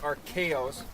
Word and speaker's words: Arcaro: So we're here celebrating Glenn Arcaro's, did I pronounce that right?